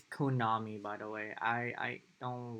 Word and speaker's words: Konami: It's Konami, by the way. I don't like when people mispronounce it, but it's okay.